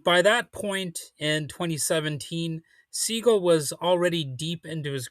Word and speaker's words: Segall: and it turns out you do pretty much pronounce his last name just like the bird.